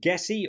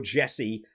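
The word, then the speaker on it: Gesi: right by the way I've heard commentators pronounce it gessie or Jesse depending on who it is I'm going to go with Jesse if you're Italian give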